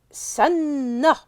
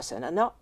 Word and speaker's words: sanna: Nous obtenons donc la racine S, N, N, qui donne le verbe sanna, et non pas sanana, parce que c'est difficile à prononcer en arabe. Donc on préfère sanna.